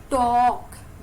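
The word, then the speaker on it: talk: अब यह वर्ड देखिए टॉक ओनली टॉक इसमें क्या साइलेंट है l साइलेंट हमने सीधा परांठे के टॉक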